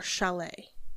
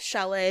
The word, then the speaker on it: chalet: So, we're I'm just going to go with chalet because it rhymes with valet and it sounds fancy and shallots spelled differently, I believe.